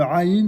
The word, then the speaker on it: Aïn: Aïn, c'est comme prononciation qui vient du fond de la gorge, comme ça, comme un gargarisme.